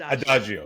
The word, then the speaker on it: Adagio: at Adagio music Consulting LLC Lisa did I pronounce it right just want to make sure Adagio ad Adagio yes thank you Adagio music Consulting LC thanks